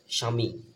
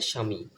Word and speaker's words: স্বামী: যদি বলা হয় তাহলে কিন্তু এই ব ফলার উচ্চারণ হবে না স্বামী বিচার দিনের স্বামী তারপর লক্ষ্য করেন যত গুণগান হে চিরমহান তোমারি